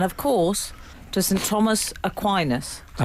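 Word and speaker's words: Aquinas: to Frank and of course to St Thomas aquinus pronounced that correctly you did thank you I believe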